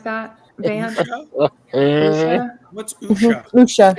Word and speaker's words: Usha: Usha. It's her name. USHA is how you say it. Or Yes. spell it, I'm sorry.